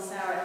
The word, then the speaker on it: Sarah: end of a word how the h at the end of the word would be the difference of spelling sarah s-a-r-a versus s-a-r-a-h we know sarah's just calling it both both ways but it's pronounced the same so when he is